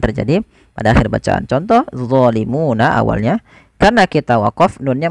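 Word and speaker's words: ظَالِمُونَ: Kemudian zalimun, hati-hati jangan dibaca dengan zalimun. Ini sering terjadi, mengganti dha dengan zo. Nggak ada sebenarnya, harusnya dha. Bagaimana lidahnya? Lidahnya untuk menyempurnakan, dia mirip dengan zal, tapi pangkal lidahnya terangkat, dan dia punya sifat namanya idbaq, melekat ke langit-langit lidah kita. Dha. Maka zalimun. Ya.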